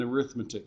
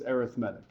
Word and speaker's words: arithmetic: Arithmetic is a noun, arithmetic is an adjective.